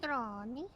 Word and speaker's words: Negroni: Or how do you pronounce that? Oh, Negroni. Negroni.